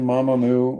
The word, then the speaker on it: Mamamoo: she's in if that's mamamoo see i even said it wrong no one cares mama moo okay amc i kicked